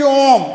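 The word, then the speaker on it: ॐ: हैं कि ओम लेकिन इसका उच्चारण हमें आपको कैसे करना चाहिए ओ ओ यह मतलब हुआ कि इसका जो उच्चारण है यह जो बना है यह त मात्रिक वाला सिंबल इसमें इसीलिए त मात्रा कहा गया है इसका उच्चारण जो होता है तीन मात्रा जैसा जोर लगना चाहिए और इसको नाटकों में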